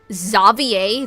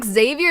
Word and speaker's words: Xavier: Xavier? That's how you say his name? Wait a minute. It's not Xavier, it's Xavier.